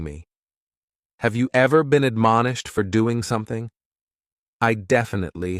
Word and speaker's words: admonish: The first word is to admonish, and admonish has 3 syllables, and the stress is on that second syllable, mon.